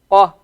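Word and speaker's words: ق: The difference between Qaf and Kaf is that the Qaf, in order to pronounce the Qaf, you go a little bit further down your throat to get the Qa sound.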